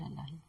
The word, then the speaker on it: اللہ: کوئی نقطہ نہیں ہے۔ آپ اللہ کا تلفظ کریں اور سمجھیں کہ آپ اسے کیسے ادا کرتے ہیں۔ آپ اس کے حروف کو اپنے حلق کے پچھلے حصے سے ادا کرتے ہیں، بغیر ہونٹوں کو حرکت دیے۔ اس کا مطلب ہے